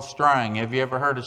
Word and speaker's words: Strang: a little community called Strang. Have you ever heard of Strang, Oklahoma? You spell it S-T-R-A-N-G, like a piece of twine. Strang.